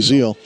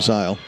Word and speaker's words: Zeal: Number 22, that's Zeal, Phoebe Zeal. Or Zile, I believe they pronounce her name, Zile.